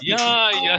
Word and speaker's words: Yaya: Yaya, on a la voyelle longue.